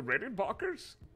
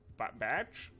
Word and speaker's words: Rickenbacker: It's Rickenbacker. Rick. Say Rick. Rick? And? In? Bach. Batch? Bach.